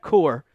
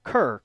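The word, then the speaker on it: Kuhr: Because right now you're having your linebackers coach, Zach Core, not Kerr, Core. They made it specifically in one of the articles I've read that that's how you pronounce it.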